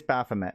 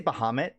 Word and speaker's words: Baphomet: You're right, it is Baphomet. What did I say? Did I say Bahamut?